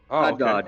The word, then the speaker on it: Haddad: Haddad is how they say it.